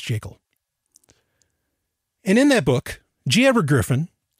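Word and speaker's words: Jekyll: It's the creature from Jacel Island. Yes, it's pronounced Jacel.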